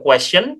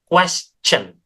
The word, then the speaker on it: question: dengan shen yang lain jadi pelafalannya bukan question tetapi melainkan question ya pakai c aja itu paling mudah ada lagi yang terakhir adalah third.